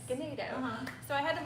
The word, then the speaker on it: Ganado: Is it Ganado? Yes. Ganado.